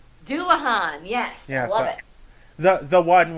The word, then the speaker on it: Dullahan: ] called do Orhan dullahan yes it's how you pronounce it that's all I